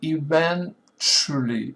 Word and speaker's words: eventually: Here I will eventually, eventually, eventually, eventually, eventually, eventually, eventually, eventually, eventually, eventually, eventually, eventually, eventually, eventually, accent is on the second syllable, eventually, eventually, eventually, momentarily, momentarily, momentarily, momentarily, momentarily, momentarily, momentarily.